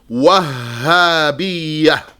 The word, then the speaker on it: الوهابية: There's a shadda on the ha. Yani, the way to pronounce it is Wahhabiyyah.